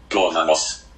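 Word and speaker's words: Goðafoss: Es realmente el nombre de una cascada que se encuentra al norte de Islandia y se pronuncia así su nombre. Guðanos.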